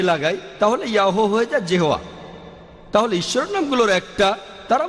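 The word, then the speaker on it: Jehovah: এটা আছে ওল্ড টেস্টামেন্টে, সেখানে দেখবেন যে ঈশ্বরকে বলা হয়েছে ইয়াহোয়া, বাইবেলে আছে। এটা ঈশ্বরের একটা নাম। আর উচ্চারণ করার সময় তারা সামনে একটা জে লাগায়, আর এটা হয়ে যায় জেহোয়া।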